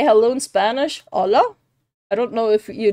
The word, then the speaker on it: hola: say hello in Spanish hola I don't know if you know how to say it is H yeah hola or hola I think it's h I think the AG is silent okay what's a good